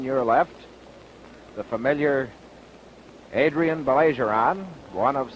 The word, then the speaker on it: Baillargeon: We know Adrien Baillargeon, or Baillargeon, as he tells me the correct pronunciation is.